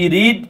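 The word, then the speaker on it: read: আমরা জানার কথা সবাই আর ইডি রিড পড়তে হয় প্রেজেন্ট টেন্সে প্রেজেন্ট ফর্মে পাস্ট এন্ড পাস্ট পার্টিসিপল ফর্মে আমরা পড়বো ভাই রেড রেড লাল ইংরেজিটা ওটা ওকে আমি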